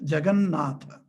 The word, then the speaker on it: Jagannatha: Jagat plus Natha becomes Jagannatha. Otherwise you can't pronounce, Even in the normal pronunciation, Jagat Natha, it's very difficult to pronounce when you are in a colloquial terms. And then you have to pronounce a Jagannatha.